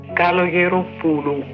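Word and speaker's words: Καλογεροπούλου: – Kalogeropoulou.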